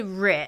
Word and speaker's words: Reich: R and of course it's spelled like Reich and that is the son I assume of leam Michelle and xandy R I'm trying to pronounce it correctly I think they said rich is it rich rich okay yeah they're trying to